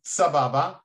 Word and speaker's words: Sababa: South America um yes the word sabab is actually an Arabic word pronounced Sababa there are many words